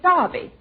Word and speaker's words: Derby: Just like here in America you say Derby, and over there we say Derby.